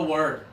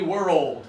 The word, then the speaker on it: world: Okay, you have to slow it down into 2 syllables, okay? Yuliya, give it a try for me. World.